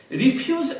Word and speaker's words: refuse: but he refused it notice that the pronunciation has the stress on the second syllable refuse as opposed to refuse which is a formal word for rubbish reject is quite similar